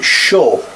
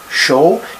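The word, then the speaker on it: chaud: adjective is I've chosen show show you don't pronounce D at the end this is masculine adjective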